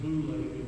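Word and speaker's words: βουλή: One is the word we would pronounce it boule, B-O-U-L-E. If you transliterate it, spell it out, it's boule.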